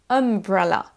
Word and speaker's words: umbrella: se prononce ce son vous avez donc un espèce de chapeau comme ça vers le bas un triangle vers le bas comme ça t ça c'est ce son Umbrella beaucoup de de mots qui ont la lettre U en anglais vont avoir ce son on va écouter comment